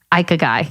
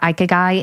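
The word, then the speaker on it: ikigai: say this japanese philosophy called we're going with ikeguy because that's what you know the google said so basically this is the mindset of people that live to 100.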